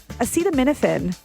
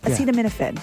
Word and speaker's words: acetaminophen: And then acetaminophen made the list because, President Donald Trump mispronounced it.